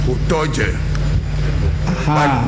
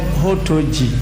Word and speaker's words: Hotoje: And so how is it pronounced? Hotoje. But the T is double. Hotoje. But initially you said Hotoji. The name and I know Hotoji is not spelled with DZE. Hotoje. Hotoje is the name.